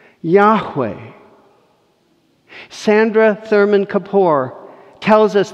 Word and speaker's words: Yahweh: Over time, we've added vowel pointings, A and E, to get Yahweh. Yahweh.